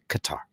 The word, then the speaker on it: Qatar: It's she goes, no, it's Qatar, Qatar."